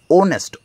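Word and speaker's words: honest: হয়েছে বলতে কেন হয়েছে H silent start with bile sound তার জন্য এখানে এন হয়েছে অনেস্ট ওনেস্ট ম্যান এই কিন্তু আমার এখানে উচ্চারণ হয়নি এখানে সাউন্ড হচ্ছে ও হচ্ছে বাল তার জন্য এখানে এন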